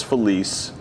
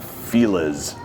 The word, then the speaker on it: Los Feliz: It's called Los Feliz Par 3. It's on Los Feliz Boulevard in Los Feliz, California. spelled like felis and cuz people are like feliz.